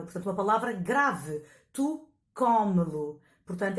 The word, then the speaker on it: come-lo: Tu come-lo. Portanto, é acentuada não na última, como em comê-lo, mas na penúltima sílaba.